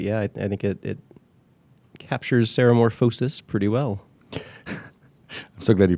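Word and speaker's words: ceremorphosis: certain parts but yeah I think it captures Sarah morphosis pretty well so glad you pronounced that correctly is there a morphosis morphosis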